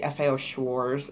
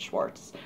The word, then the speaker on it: FAO Schwarz: in the day um it's actually FAO Schwartz is the proper pronunciation but everybody calls it Schwartz like may the Schwartz be with you I don't